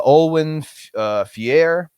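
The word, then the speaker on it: Olwen Fouéré: in addition burnham uh olwen fier i believe is how you pronounce her name from mandy um i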